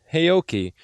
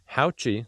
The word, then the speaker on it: Haoqi: Today we're out here on the Haoqi, not Haoqi, Haoqi, that's how you pronounce it, Antelope 750 Pro, and